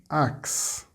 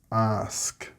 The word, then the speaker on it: ask: You may be saying axe instead of ask, max instead of mask, tax instead of task, or flax instead of flask, and dex or text instead of desk, etc. If you are getting these incorrect results, then you are pronouncing an X instead of the sk sound.